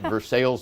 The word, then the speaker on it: Versailles: foreign language you know we pronounce it versailles missouri you know we're not into french pronunciations of anything and we're not and